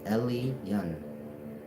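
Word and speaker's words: Elyon: E L Y O N pronounced Elan.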